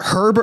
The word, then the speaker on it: Herb: Is this uh Herb Herb? You actually pronounce the H.